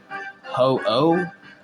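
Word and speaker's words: Ho-Oh: continue on so this is a legend too ho oh that's how you say his name but it's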